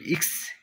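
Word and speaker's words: ics: তারপর দেখুন, এটাকে আমরা বলি এক্স ইংরেজিতে, আর ইতালিয়ান ভাষা হবে ইক্স, ইক্স, ইক্স।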